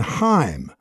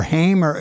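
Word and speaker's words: Haim: perry janelle monae and heim or hamer how do they the girl group pronounce themselves called hain but there's two versions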